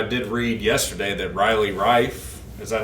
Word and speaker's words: Reiff: But I will say that I did read yesterday that Riley Reiff, is that how you pronounce it?